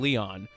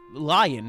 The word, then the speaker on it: Lion: even will stared at Lion's face wearing a confused expression I'm not saying Leon it's lion if they wanted Leon